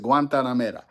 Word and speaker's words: Guantanamera: Together with Guantanamera. Okay, that's how you pronounce it, Guantanamera.